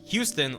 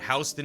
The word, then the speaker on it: Houston: have a problem also new yorkers are quick to point out that houston is the original pronunciation and that houston is a newer pronunciation so houston's correct to